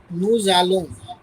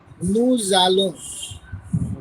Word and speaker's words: Nous allons: And see, S between two vowels U and A. So pronunciation will be like this. Nous allons.